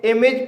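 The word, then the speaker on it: image: इमेज यह एक multiple स्लेवल word है। क्योंकि इसमें एक से ज्यादा वोवेल साउंड है। और इसके अंत में ए जी ई आया है। इसलिए ए का उच्चारण इ होगा। इसलिए इसे इमेज पढ़ा जाएगा।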